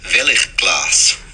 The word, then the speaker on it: Veiligglas: safety glass company from amsterdam known as nv veliglass did i say that correctly steve yeah it's touch so it's pronounced velik class okay my dutch bird freund i'll try to